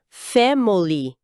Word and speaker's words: family: Em português, a gente falaria as 3 sílabas com clareza. Família. Mas em inglês, soa quase como family. A vogal do meio praticamente some. Vira esse "a". Exatamente. O I de family é reduzido a um schwa.